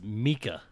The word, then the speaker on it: Mika: do have an update it's Mika it is Mika yeah I I get corrected every year oh I like oh I'm pronouncing it the opposite of what I normally pronounce it um so it's Mika Mika thieves oh I'm